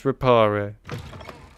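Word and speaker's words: Reparo: buy that at all it's lumos and it's Aqua erupt so and it's repario that's the way it should be I will not have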